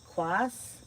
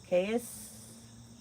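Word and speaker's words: Qais: Is that quas? Do you pronounce the Q? You pronounce it like a K. Kais, maybe I better just call you BCC.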